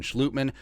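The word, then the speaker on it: Schlottmann: Chris Reed and Austin Schlutman, Dutch pronunciation, the 2 veteran backups.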